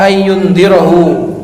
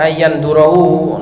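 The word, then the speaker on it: أن ينظره: Fastandarahu Jabirun fa'aba ayyundirahu. Jangan bacanya jangan ayyandurahu, nadara yanduru melihat, kalau andara yundiru menangguhkan.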